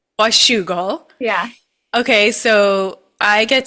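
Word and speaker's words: Washougal: Washugal or Wugle? I don't know. How do you say it, Janna? I say wugal. Washugal.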